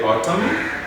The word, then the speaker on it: autumn: this one to where the n is not supposed to be pronounced and here we have a list of those ones we say autumn column column three column